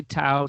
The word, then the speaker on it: Dao: difference between ta and da for oh yeah Dao is just I mean like ta I think